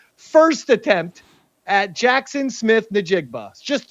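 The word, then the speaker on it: Njigba: It's pronounced Nigba. If you look at the word, you can actually see it's nigba.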